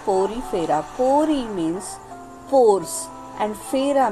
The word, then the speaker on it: Porifera: पोरीफेरा को ही दूसरा नाम कहा गया है स्पॉन्जेस, जो कि पोरीफेरा, उसका राइट प्रोनाउंसिएशन है पोरीफेरा।